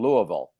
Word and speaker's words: Louisville: There I saw Ken and he said, "Good evening on the mend in Louisville." Well, this is the way to do it. Louisville properly. Louisville.